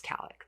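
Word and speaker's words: Kallik: is in Khalid but her full name is Kalik that's where I was confused I thought that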